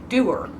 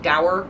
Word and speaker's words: dour: So apparently the word is pronounced doer. I thought it rhymed with sour, like dour, sour. But apparently, no, it's pronounced doer. It rhymes with sewer.